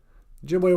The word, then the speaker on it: Ojibwe: And then E's always sound like A's, like in the word Ojibwe.